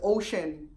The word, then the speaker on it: Oshun: mispronouncing or goddesses name instead of saying Oshun it's ocean instead of saying Musa